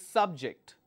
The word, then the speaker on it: subject: use the when you when you have the stress on the second syllable it means it's a verb when the stress is on the first syllable it means it's a noun alright another example convict